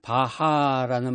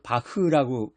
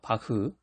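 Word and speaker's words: Bach: 옛날에는 바하라는 말을 했는데 요즘에는 바흐라고 발음을 해요. 바흐.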